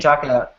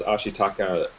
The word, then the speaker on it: Ashitaka: Ashitaka.